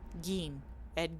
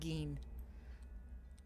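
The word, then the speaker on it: Gein: Um, so meanwhile my grandma, she got a gin. Ed gene. It's not gine, it's gin. G e i n. Gene. It's pronounced ed gene as far as I'm aware.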